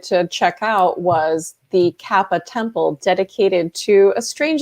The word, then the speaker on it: Kappa: So you went to Japan and you were investigating the Koopa. Is that how you pronounce it? The Kappa.